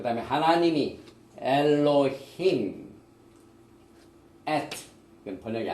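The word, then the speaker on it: אֱלֹהִים: 우리가 많이 발음을 해봤지만은 우리가 다시 한번 하나하나를 발음을 해보겠습니다. 제일 먼저 태초에 베레시트, 그 다음에 창조하시니라 바라, 그 다음에 하나님이 엘로힘, 이건 번역이 안 돼 있죠.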